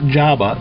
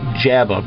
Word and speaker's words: Jabeh: So this game is Jabeh, not Jabba, Jabeh, pronounced like jab or a punch.